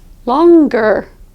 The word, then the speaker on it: longer: longing for chocolate however there are some endings where the G will be pronounced longer longer that G will